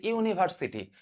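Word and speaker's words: university: ইউনিভার্সিটি ইউনিভার্সিটি ইউনিভার্সিটি এই ইউনিভার্সিটি ইউনিভার্সিটি দেখো এখানে ইউ এর উচ্চারণটা ইউ এর মত হইছে এখন আমরা জানি ইউ এর উচ্চারণটা যদি ইউ এর মত হয় তখন আমরা আর্টিকেল হিসেবে এখানে এ ইউজ করি আচ্ছা তাহলে আমি অপশনে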